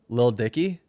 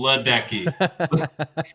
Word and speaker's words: Ledecky: Ledecky? Lil Dicky? No, Ledecky. Katie Ledecky.